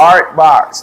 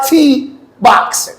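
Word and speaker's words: Ourt Box: Art Box. That's how you say it. Black Yo, I was owned. trying to say, how the hell do you pronounce it? Art Box. Art Box. So nice. And you know what? Okay. It's different. You don't unless, spell it like art, but art. So nice. O-U-R-T. 100%. I said RT Box. Basically, it's our box.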